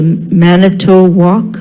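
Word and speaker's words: Manitowoc: of the crane it's called and it's a manato walk man manato that's how they pronounce it m a n i and it's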